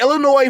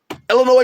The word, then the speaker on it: Illinois: okay we've got the illinois fighting illini shout out to you people who say illinois i'm not that that place is two states away and i've i've never pronounced the s but teachers um they're